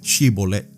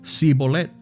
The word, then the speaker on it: Shibolet: Si decía el hombre: «No, no lo soy», ellos le pedían que pronunciara la palabra Shibolet. Si era de Efraín, diría Sibolet, porque a la gente de Efraín le cuesta pronunciar bien esa palabra.